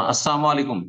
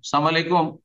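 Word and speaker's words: السلام عليكم: বাক্য কিন্তু সেটাকে যদি বিকৃত করে দেয় যেমন আসসালামু আলাইকুম সালাম আলাইকুম তাহলে সালাম আলাইকুম মানে মরণ হারাম গুনাহ কাজ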